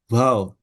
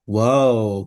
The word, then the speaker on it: Waw: itu huruf ke-6 yaitu Waw. Bukan wow bukan pakai O tapi waw gitu bacanya waw gitu ya waw.